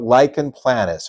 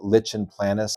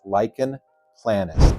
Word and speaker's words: lichen planus: Great question about lychen planis or LP. Please do not pronounce it lichen planis or lychen plantis. It's lychen planis.